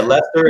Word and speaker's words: Worcester: Yeah, Lester is spelled Lester, and I'll be damned if it's spelled that way on a sign.